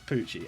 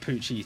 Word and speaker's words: Pucci: But I think that is how you say it, because it's like Gucci and it's Pucci.